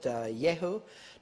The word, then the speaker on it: Jehu: a king named king yehu the king over the northern kingdom second kings 10 31 but jehu some people pronounce it yehu took no heed to